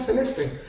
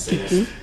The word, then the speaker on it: Celeste: they're like, is that Celeste? Hello, is that Celeste? So but the real pronunciation for the word, it's actually a Latin word and French at the same time. It's Celeste.